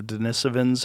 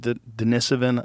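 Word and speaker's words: Denisovan: I I think the first even recognition that there was another type of human called Denisven. I think that's how they pronounce it. I always say Dennis Oven.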